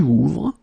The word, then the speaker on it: ouvre: And that's the reason why you will get tu ouvres. For il, elle, you will add E, ouvre. Okay, so basically you get the same phonetical form here. Okay, it's the same pronunciation, but you should